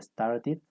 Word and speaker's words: started: Cuando los verbos normales terminan en T o terminan en D, nosotros pronunciamos la E como una I.